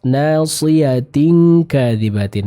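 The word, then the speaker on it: ناصية كاذبة: Selanjutnya pada ayat yang ke-16, nasiyatin kadzibatin. Nah, sempurnakan lagi ikhfa yang bertemu dengan huruf kaf.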